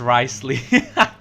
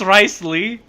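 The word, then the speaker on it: Wriothesley: ] is this cuz I pronounced his name as rice Ley oh no it's rice Lee you're going to draw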